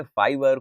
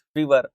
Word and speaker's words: Fiverr: कुछ लोग इसे फाइवर, कुछ फीवर अलग अलग तरीके से प्रोनाउंस करते हैं. So let's say इट फाइवर.